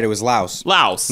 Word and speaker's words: Laos: It's pronounced Laotian. They're not from Loas. They're from Laos. That's all. That is true. Excuse me, old hell. Sorry. Sorry. We got it right. It was Laos. Laos.